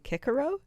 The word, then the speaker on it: Cicero: first of all Cicero would have been Kickaro that's huge I mean